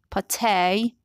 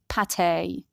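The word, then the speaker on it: pâté: sorry american borrow sorrow words borrowed from french are stressed differently especially if the last letter is a vowel so in american english the second syllable is stressed but in british english the first syllable is distressed look at these examples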